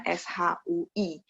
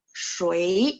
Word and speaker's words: 谁: Satu seperti pinyin yang ada di modul kita kan bacanya S-H-U-E-I, bacanya ya, tapi tulisnya S-H-U-I, bacanya S-H-U-E-I, shui, nada dua.